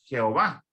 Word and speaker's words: Jehová: Dios se le dice Jehová, que va a ser una pronunciación en alemán del nombre Yahvé.